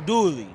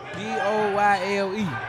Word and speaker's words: Doyle: Boy, that's Joe Dooley. Talking about Joe Doyle. I don't know how to say his name. Don't worry about that. D-O-Y-L-E.